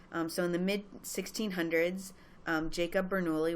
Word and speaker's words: Jacob Bernoulli: in the mid 1600s Jacob Bernoulli which it actually would have been pronounced yaka Bernoulli discovered its connection to